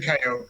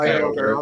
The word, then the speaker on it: Kyogre: Okay, it's actually Kyogre. It's actually pronounced Kyogre.